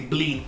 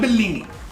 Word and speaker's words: blin: You say blin, not Bellini. It's blin.